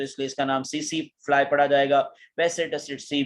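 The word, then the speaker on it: tsetse: अब मैं थोड़ा सा अगेन इसको क्लियर कर दूं, कुछ इंग्लिश ग्रामर के अकॉर्डिंग इसको पढ़ा जाता है टसिट्सी, लेकिन इसकी राइट प्रोनाउंसिएशन क्या है, गूगल पे आप जाके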